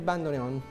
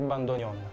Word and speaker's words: bandoneon: Che bellezza Parlaci del bando neon Me l'avevi promesso ci siamo lasciati in sospeso certo la pronuncia esatta del nome bando Gon Gon molti lo chiamano bandoneon bandoneon il la pronuncia esatta è bandonion benissimo il cultore del